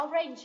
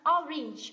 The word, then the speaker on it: orange: từ quả cam thì chúng ta không đọc là orange đúng không rất là nhiều bạn đọc là orange âm này không phải là âm a mà đây là âm I ok từ này đọc là ore đây âm I nhá orange quả cam thì